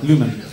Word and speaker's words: Люмен: Вот я вечно путаю ударение. Люмен или Люмен? Люмен, да? Первое. Люмен.